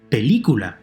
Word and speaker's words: película: Película, the word for movie. Película, hear it? The 3rd to last syllable is stressed.